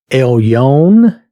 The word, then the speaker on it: Elyon: why I'm using that the pronunciation the phonetics is Elion Elion I'm doing the best